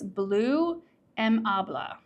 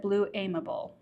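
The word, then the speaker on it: Bleu Aimable: It's blue mabla. I would have said blue amable. That's how I would have pronounced it.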